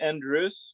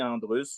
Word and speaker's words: Andrus: Ah, ben, c'est un nom anglophone, donc on peut dire Andrus, mais moi je dis Andrus ou Andrus. Il y a plusieurs possibilités, mais tu l'as très bien dit.